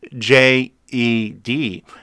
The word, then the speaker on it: Djed: coin called jed but it's spelt d j e d but it's pronounced jed like jedi fred islands founder charles